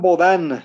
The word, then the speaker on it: Bodin: Jean Baudin se pronuncia en francés.